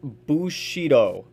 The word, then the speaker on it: bushido: but uh i might look into it later pronounced bushido oh okay see i wouldn't have guessed that